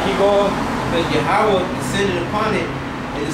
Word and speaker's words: Yahweh: People call him Yahweh or Jehovah. Those are incorrect pronunciations. The proper way to pronounce is Yahweh, okay?